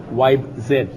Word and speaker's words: Vibe Z: VI Z or Zen now depends on which country you're from how you pronounce it we're going to go with the Lenovo wi Zed Lenovo since it's bought